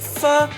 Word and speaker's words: pho: Vietnamese pho. It only takes 10 Pronouncing it wrong. Say with me, chat. Pho. So Not pho. It's Pho. pho.